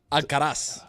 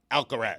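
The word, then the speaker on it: Alcaraz: Oh, Carlos Alcarez. Alcaras. Nah. See, I don't like that. Mike does that all the time. I hate it. Carlos Alcarez.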